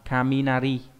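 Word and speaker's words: 雷: Đọc là kaminari. Kami Kami là gì nhỉ? Kami là thần đúng không? Nari là trong cái động từ naru là tiếng kêu ấy.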